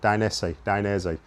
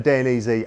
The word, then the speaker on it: Dainese: And for me, Dainese, there'll definitely be some criticism of the pronunciation. Dainese. That's how I've always said it.